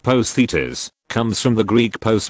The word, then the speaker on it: posthitis: of three or more the term post itis pronounced Positas comes from the Greek